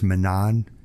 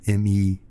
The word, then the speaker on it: Menand: And I drew heavily from Louis Menand. I think that's how you pronounce his last name, Menand, Menand, who wrote Metaphysical Club.